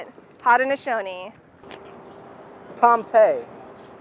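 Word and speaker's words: Pompey: but that's they say it hot and Aon pompe pompy yes yes you know what I like about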